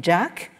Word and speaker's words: Jacques: ce monsieur qui s'appelle Martin Jack je pense que c'est comme ça qu'il faut prononcer son son nom vous penseriez peut-être qu'il est bien chez nous Martin Jacques mais en fait il est il est britannique c'est un polytologue et